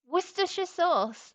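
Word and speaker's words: Worcestershire: was like that's oh worista sauce worersha sauce that's how you say it screaming worersha sauce at you but that's how you say it woristers.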